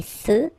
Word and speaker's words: feux: So here, final X, not pronounced. Des feux de circulation.